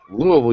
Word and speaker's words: Louisville: Louisville, you gotta say it right. Louisville, yeah, it's almost like you're throwing up. Louisville. Like one syllable.